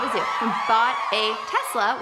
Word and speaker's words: Tesla: We bought a Tesla, which I almost said Telsa because Jason mispronounces it, and this is one